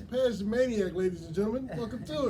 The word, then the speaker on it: Pej the Maniac: get it correct because I've been saying it wrong all day long. It is Pej the Maniac. I don't know why I've been putting the D in your shit, but it's Pej the Maniac, ladies and gentlemen.